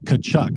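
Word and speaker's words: Tkachuk: And that did help me get the job because I knew how to pronounce, when they first said, how do you say this name? I'm like, Kachuk.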